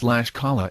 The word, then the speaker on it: Tlaxcala: It is Oaxaca and it has 2.7%, not 27%. And it is Tlaxcala and Guanalan. Even I, with a robotic voice, can pronounce better than that.